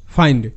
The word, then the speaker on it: find: দেখো আমরা জানি আই এর শর্ট সাউন্ড হ্রস্ব ই, এটা ফিন্ড হওয়ার কথা, কিন্তু এখানে আই হিসেবে উচ্চারিত হচ্ছে, অর্থাৎ এর সাউন্ড ফাইন্ড। কেন, অ্যাকচুয়ালি এটাও কিন্তু প্যাটার্ন, যেটা হলো IND। সো যখনই দেখবে IND পাশাপাশি থাকছে, তখন তার সাউন্ড হবে আইন্ড। এফতে ফ, IND, আইন্ড, ফ আইন্ড, ফাইন্ড।